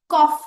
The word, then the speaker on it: cough: अब TOUGH, इसमें GH बन जाता है फ, टफ। टफ हो गया, कॉफ हो गया, कॉफ में भी COUGH आता है पर वो GH बोलते वक्त हम फ बोलते हैं।